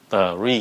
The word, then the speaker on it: three: So các bạn phát âm là tờ, ri. Three, nhanh lên.